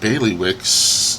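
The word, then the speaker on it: Bailiwick: bothering me because I don't know how to pronounce it I'm in my head I'm saying Bailey Wick Bailey Wick of gery let me see okay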